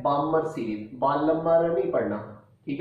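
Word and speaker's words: Balmer: इधर L silent है, बामर series. बालम्बर नहीं पढ़ना, ठीक है, पढ़ते टाइम बामर कहना, लेकिन ये है बामर, बालमर, यानी कि एल साइलेंट है, बामर पढ़ेंगे।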